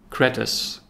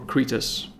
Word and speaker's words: Kretes: Now it's called Kretes or Kretes. The reason I changed the name is to be easier to pronounce. You can pronounce it Kretes or Kretes or whatever, but I think it's much easier than Hunsfot.